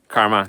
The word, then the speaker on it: CCRMA: CCRMA, Karma, the first C is silent.